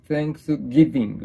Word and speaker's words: Thanksgiving: サンクスギビングサンクスギビングうんとね最初 TH だからサンクスギビングみたいなね発音じゃないと怒られるんですよねうん